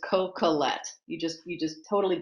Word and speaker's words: Coquillette: and she's very famous you stamp it down no inflection is just coca-lette you just you just